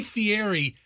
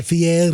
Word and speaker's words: Fieri: right it's guy fieri you got to say his name a certain one you can't say guy fieri you got to go guy field there's some kind of twisted contortion you got to do with the middle of his last name